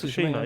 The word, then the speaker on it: Tsushima: Tsushima, yeah.